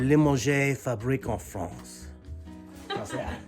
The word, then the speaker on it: Limoges: And how do you pronounce it? Limoges. Limoges.